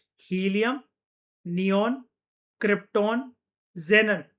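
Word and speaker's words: xenon: Helium, नियॉन, krypton, जेनन ये XCNO एन को हम लोग कैसे प्रोनाउंस करते हैं? जेनन कहते हैं हम इसको।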